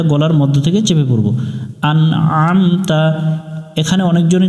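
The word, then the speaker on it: أَنْعَمْتَ: এখানে আমরা যে ভুল করি, প্রথমে হামজা আছে, হামজা দিয়ে নুন উচ্চারণ করার সময় এখানে পড়ব আন, এরপরে আইন, এটা গলার মধ্য থেকে একটু চেপে পড়তে হবে আম।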